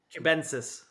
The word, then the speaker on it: cubensis: Am I pronouncing this correctly? Cubensis, is that Crenex T? Cubensis.